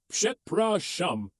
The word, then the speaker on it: przepraszam: The pronunciation is przepraszam.